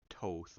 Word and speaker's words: Thoth: Thoth or toth I think people have sometimes said I'm going to say Thoth because that's how it's spelled in the case of